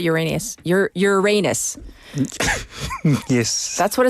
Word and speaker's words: Uranus: I was going to pronounce it the Uranus. other way. No, in America we call it Uranus.